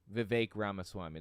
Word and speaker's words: Vivek Ramaswamy: Vivek Ramaswamy. That's how it's pronounced.